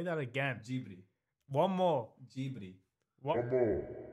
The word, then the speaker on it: Ghibli: I think it's Ghibli, because it's in Japanese, it's Ghibli. Say that again. What? Say that again. Ghibli.